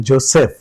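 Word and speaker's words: Joseph: স্কুলটা বা কলেজটা সেইন্ট জোসেফ জ আছে জাপানের যে ওটা জ হবে বর্গজ কিন্তু এসটা নিয়ে সমস্যা সবাই আমার মনে হয় 90 পা97% বানিয়েই বললাম মজা করবার জন্য পারসেন্টি মানুষ পড়ে এসে বলে যে আমি সেইন্ট জোসেফের ছাত্র ছিলাম জোসেফ সিঙ্গাপুরের স তা না এটা জিম্বাবের জ হবে জেড সেইন্ট জোসেফ এটা একটু মনে রাখা দরকার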